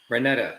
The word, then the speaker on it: Renata: Renata, okay.